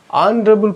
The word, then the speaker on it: honorable: person wal sound so H is silent here H is silent here